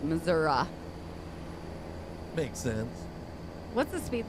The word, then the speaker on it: Missouri: go the proper pronun pronunciation is Missouri at times yes it is pronounced that way see if we got